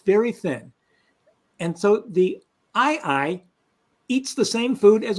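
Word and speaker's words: aye-aye: but there's a very different animal called an II it's spelled a ye a Yee and if you've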